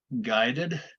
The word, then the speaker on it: guided: So studied with a D, guided with an id, loved with a D, hated with an id.